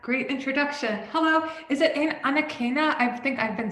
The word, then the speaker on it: Anakana: Hello, is it Anakana? I think I've been saying it wrong. Anakana, but you can just say if it's too much, just say.